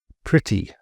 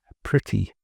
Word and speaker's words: pretty: Pretty. The the E is pronounced more like an I. Pretty. Not pretty, but pretty.